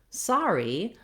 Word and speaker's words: sorry: like the r then when we change to sorry our letters o r say the r diphthong instead of the o r sound so in both cases